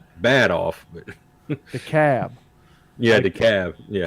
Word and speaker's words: DeKalb: yeah, the cab. Yeah. DeKalb is DEKALB, Mm-hmm. but the L is silent. Yeah. But in Illinois, it's not silent.